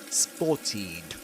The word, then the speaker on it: spotted: But the rule in English, in pronunciation here, is that if a verb ends in t, the ed ending is pronounced as id, spotted.